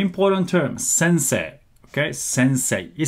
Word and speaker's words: sensei: you said sensei okay this is how we write as well in Japanese say mmm say ii right but when you pronounce it it's okay to say since a long vowel sensor when you pronounce